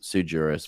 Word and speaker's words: sui juris: So some people will sign, and some people pronounce it sui juris, but yes, sui would be the correct Latin, because all the legal terms and most Latin of the lawful terms come from Latin.